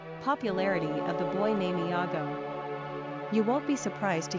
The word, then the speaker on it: Iago: Number of syllables, 3. Ranking popularity, not applicable. Pronunciation, Iago.